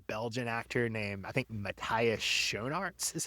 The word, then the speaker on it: Matthias Schoenaerts: the guy who plays Krem is a Belgian actor named, I think, Matthias Schoenaerts is how you say his name.